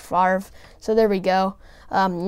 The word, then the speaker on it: Favre: you say it wrong good life jokes around and calls them bet or brett favre i think but yeah it's really brett favre so there we go